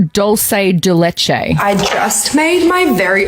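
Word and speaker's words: dulce de leche: It's doulce de leche.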